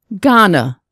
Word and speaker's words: Ghana: G, Ghana.